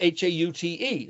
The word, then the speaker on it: haute: It's just like the hot cuisine. This is like the hot mama, the great fashion. That's Haute, hot.